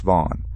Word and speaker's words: Vaughan: McGinnis returned to the spot with his friends, John Smith and Anthony Vaughan, pronounced Vaughn.